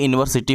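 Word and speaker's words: university: ए यूनिवर्सिटी हो जाएगा, क्योंकि यू, देखिए यूनिवर्सिटी में यू जो आपका है वो भले वावेल है इंग्लिश का, लेकिन जब आप इसको लिखोगे, इसको प्रोनाउंसिएशन करोगे तो या से होगा।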